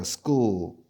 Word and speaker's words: school: school. 하면 뭐죠? 학교죠, 학교. 학교를 영어로 school. 그죠? school 어떻게 적어요? school. school. 그죠? school 아니고 약간 cool보다는 꿀에 가까운 발음을 하셔야 돼요.